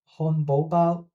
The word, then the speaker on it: 漢堡包: もう 1 つの例は本バーです。この単語の字はそれぞれ 3 世、 2 世、 1 世です。マッピングによると正しい発音はファファーソです。